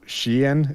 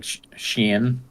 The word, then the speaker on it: Shein: Well, I did see an interesting argument about like Shein. That's how they said it was pronounced. You'd think it's pronounced Shein, but apparently because it's Chinese, it's Shein.